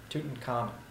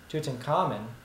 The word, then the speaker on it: Tutankhamun: Another interesting fact about this pharaoh is the way that we pronounce his name most of the time is incorrect. We're used to calling him King Tutankhamun, when in fact his proper pronunciation is King Tutankhamun, which translation is the living image of the god Amen.